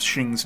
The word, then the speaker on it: Xing: up before we start reports our super inconsistent about the spelling and pronunciation of shing's name I would say that the majority of sources refer to her as Shing but a good chunk spell it slightly different as Shang she also apparently sometimes